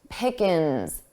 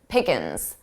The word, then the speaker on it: pickings: Pickins, ins. So I dropped that ing, I dropped that G sound from the ing. Pickin, pickin. But it's plural, so I add that S. Pickins. Pickins.